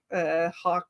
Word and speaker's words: Hawk: And through that, eventually, I became friends with Sam Hawk, or Hawk rhymes with fork.